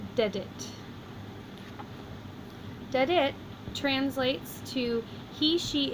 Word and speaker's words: dedit: It's two-syllable words, so the accent goes on the first of the two, and we have dedit.